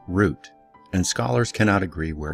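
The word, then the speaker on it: רות: in Biblical Hebrew for Ruth pronounced as root and scholars cannot agree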